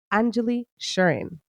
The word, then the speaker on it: Anjuli Sherin: the honor and privilege to introduce to you Angelie shurin did I say it correctly you did you